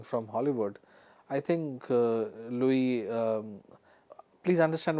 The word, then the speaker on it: Louis: Hollywood I think uh Louie um please understand when I say Louie the spelling is L O UI yes Luis you know but in French it's called Louie Louie fad.